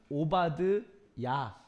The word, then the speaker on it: 오바댜: 이 오바댜는 이제 정확히 발음을 표현해 보면 오바드야라고 읽습니다.